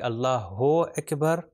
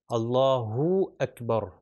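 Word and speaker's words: الله أكبر: کہتے ہیں، اللہ اکبر۔ اگر ہم کہیں اللہ اکبر تو یہ وہی اردو والا تلفظ ہو جائے گا او، مگر ہم نے کہا عربک کے اندر کیا ہے صحیح تلفظ، او، یعنی اللہ اکبر، اللہ اکبر، ٹھیک ہے۔ لمبا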